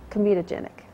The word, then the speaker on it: comedogenic: of um and I don't think I can pronounce it properly so I'll let you the formulations that don't clog pores non comitogenic comitogenic yeah and that's c o m e d